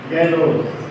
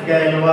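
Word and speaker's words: Galois: Word ये 1830 में coin by गैलो और प्रोनाउंसिएशन गैलवा होता है इसका 1830।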